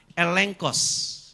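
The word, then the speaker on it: ἔλεγχος: Tapi kalau bahasa Yunani G ketemu dengan K atau KH itu dibaca ng sama kayak yuang gelion tulisannya yuang gelion 2G tapi dibacanya yuang gelion itu bahasa Yunani.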